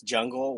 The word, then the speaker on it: Jung: everyone kind of wonders how you pronounce that it's jungle without the ali jung and um